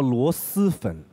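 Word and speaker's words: 螺蛳粉: 首先纠正，读音叫螺蛳粉，不是丝吗？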